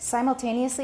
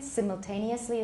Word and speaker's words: simultaneously: Simultaneously is American, simultaneously is the British. So they're both fine, but now let's be consistent.